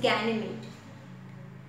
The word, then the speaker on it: Ganymede: It's Ganymede. The pronunciation is Ganymede.